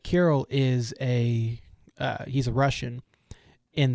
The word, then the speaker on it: Kirill: But anyway, he works with a Russian colleague named Kirill, which I looked up. That's apparently how you pronounce it, who is a Russian man.